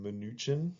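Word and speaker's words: Mnuchin: supportive publicly you have Secretary of Treasury Steve minuchin so it's pronounced minuchin and yeah he's he is a good-looking guy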